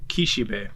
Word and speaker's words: Kishibe: name earlier i missed his yeah it's uh kishibe kishube okay i missed his name